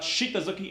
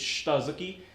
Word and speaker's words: shitazuki: The I in the middle of the word is compressed, so it's not shitazuki, it's shitazuki. And it means like lower punch.